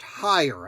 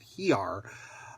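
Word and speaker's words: Heiar: talked to you greg hire it is spelled h-e-i-a-r but pronounced higher i think i previously called it here uh is coming to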